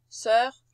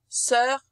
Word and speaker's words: sœur: Voilà notre O E bouclé U qui se prononce E. On dit pas œuf, on dit pas sœur, on dit pas cœur, on dit cœur, sœur, œuf. C'est un E ouvert.